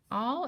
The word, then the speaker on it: all: next word is all all is tricky because it looks like it should have an o in it because it makes the ah sound at the beginning but there's no o it's a l l all and both of these